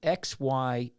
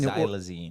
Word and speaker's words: xylazine: So this is hitting this drug here, and for the people who don't see us, it's spelled XYLAZINE. It's hitting Xylazine.